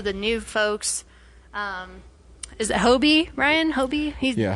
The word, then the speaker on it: Hobie: Is it Hobie, Ryan? Hobie? Yeah, Hobie. Hobie's pretty cool. And what's the Indian one? Pavtir. I can't pronounce his last name.